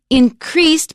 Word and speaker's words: increased: Increased, because it's a verb, we stress the second syllable.